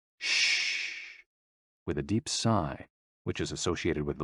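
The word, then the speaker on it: 呬: shh, with a deep sigh, which is associated with the liver. HE, pronounced like her, with a yawn, which is associated with the heart. SI, pronounced like sir, with a slow exhale, which is associated with the lungs.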